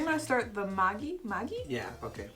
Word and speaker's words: Maggi: like I think I'm going to start the Magi Magi yeah okay how do you pronounce it uh it's mgy it's the brand though but everybody just calls